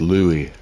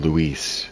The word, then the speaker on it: Louis: like his name should actually be pronounced Louis. I don't know why they're calling him Luis. That that's that's L UI S. That's that's uh Spanish.